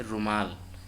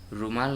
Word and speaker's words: रूमाल: ठीक इसी प्रकार से रुमाल, रुमाल नहीं होता है, रूमाल होता है।